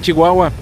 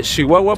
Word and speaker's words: Chihuahua: estoy haciendo así de Chihuahua porque la gente aquí habla así así pronuncia la la che la ch se dice leche muchacho Chihuahua platicando con las personas